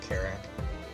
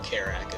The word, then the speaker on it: Kerrack: say that for sure but carak is spelled k e r r a c k and that's also